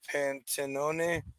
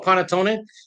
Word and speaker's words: panettone: Here, I'm gonna not pronounce that right. Pantenone, bread pudding. Panettone. Yes. Panettone.